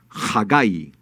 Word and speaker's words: Hagai: protege luego sigue ajeo que en hebreo se dice hagai qué significa hagai significa